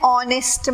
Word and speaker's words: honest: Here, moreover, here what we can say is an honest man. Here, yach is silent. Honest. The pronunciation is honest, not honest.